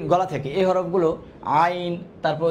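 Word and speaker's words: ع: থেকে হাকের মাঝখান থেকে এটার মাখরাজটা দুই নাম্বার মাখরাজ এটা আছে আইন আর হা সেইম মাখরাজ আচ্ছা এটা খ বানানোর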